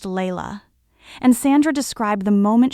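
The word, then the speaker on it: Laila: Her name was Layla, pronounced Layla, and Sandra described the moment she met her with the same unshakable certainty she'd felt with Louis.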